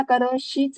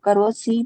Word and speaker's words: करोषि: म्हणतानाच बघा करोसी, सी म्हणताना करोशीच म्हणणं जास्त बरं पडतं की नाही? करोसी म्हणण्यापेक्षा करोशी.